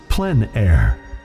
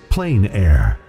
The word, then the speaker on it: plein air: The French pronounce it Plein Air. Others say Plein Air. No matter how you say it, there is a huge